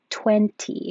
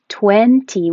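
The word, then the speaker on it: twenty: So there's 4 different ways to pronounce 20. It can be with a T. I was confused by this N. 20 with the vowel E as in head and yes.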